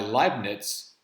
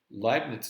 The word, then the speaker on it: Leibniz: Leibniz. I think it's L-E-I. In German, when you see two vowels together, the second one is the one that's said.